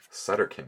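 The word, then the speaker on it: Sutterkin: work poke professor stutz sutter king oh i always thought it was pr you know i just realized i always pronounced it professor stutterkin but it's sutter kin live and learn zyx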